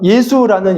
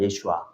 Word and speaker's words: 예슈아: 자 예수라는 이름 뜻은요. 히브리어로 이제 구원이에요. 그래서 정확하게 발음하면 예수아입니다. 예슈아. 예. 그런데 이제 한국말로 이렇게 음역하니까 예수인데요.